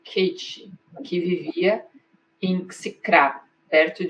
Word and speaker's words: Caté: Ela é parecida com a que me foi passada por minha tia Caté. Pronuncia-se Kate, que vivia em Xicrá, perto de Dombovar, na Hungria.